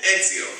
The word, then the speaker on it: Ezio: Is that the way you pronounce it? That is right. It's your Pinza. How's that again? Ezio.